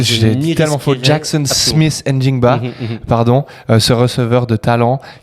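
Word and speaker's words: Smith-Njigba: J'adore que tu le prononces parce que j'ai dit tellement faux. Jackson Smith Njigba, pardon, ce receveur de talent qui, avec Sam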